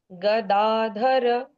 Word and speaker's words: गदाधर: नहीं लगना है इसमें अ लगना है परमो मंत्र गदाधर गदा गदाधर।